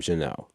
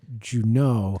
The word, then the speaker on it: Junod: Yes, so the son changed the pronunciation of his name in college. He was taking a French class, and the teacher started pronouncing his name Junod, and he said, I like it, I'm going to change it. And so when he changed the pronunciation of his name, all of his family was like, who do you think you are, changing your name to something fancier?